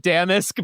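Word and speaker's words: Damask: D A M A S K. Oh, Damas. I guess you can pronounce it like Damisk, but I'm just going to call him Damas.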